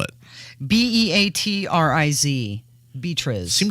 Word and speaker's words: Beatriz: what's her name beatritz okay how do you spell it b-e-a-t-r-i-z Beatriz seems like there used to be more